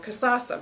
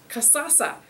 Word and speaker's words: Kasasa: word and it's called Kasasa but I think the easiest way to remember it is just really you know it sounds like a dance so just Kasasa woodland bank serve the